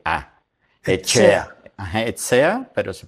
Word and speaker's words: Etxea: E t X e a Echea. Ajá. Esea, pero se pronuncia echea.